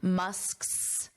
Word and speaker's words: Musk's: But then when you want to make it possessive, Musk's, sk, s, sk, s. So those are the three sounds. Sk, s, Musk's, Musk's. So feel free to practice that a little bit. Ken Musk's.